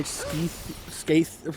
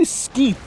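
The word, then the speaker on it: Skeith: you don't harm my skaith, whatever. I want to say skeeth because, I'm sorry for hitting the mic. I want to say skeeth because that's how it's spelled, but he says skaith.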